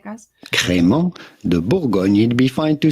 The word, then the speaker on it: Crémant de Bourgogne: La Boygunde, la creme caramonte. I think we have the correct pronunciation queued up here for you. Crémant de Bourgogne.